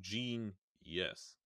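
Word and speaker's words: Jeen-yuhs: as a kanye trilogy genius is spelled out phonetically so it's j e e n y u h s so gene yes i i keep saying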